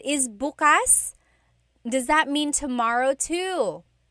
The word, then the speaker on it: bukas: If you say bukas, the emphasis is on the second syllable. That means open. If you say bukas, emphasis is on the first syllable. That means tomorrow.